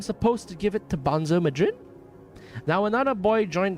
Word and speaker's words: Bonzo: "I'm supposed to give it to Bonzo Madrid?" Now another boy joined the conversation, a smaller boy, but still larger than Ender. Not Benzo Pisshead, Bonzo.